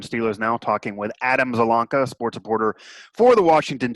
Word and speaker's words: Zielonka: the washington times and I'm proud of myself for pronouncing your name correctly by the way I didn't ask you beforehand I never would have been able to do it I would have butchered it but it's one of those things doesn't it doesn't sound like it looks so we both we